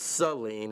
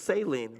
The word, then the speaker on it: Saline: The town that I'm from in Michigan is actually pronounced Seline and every time you know they're like, "Oh, it's saline."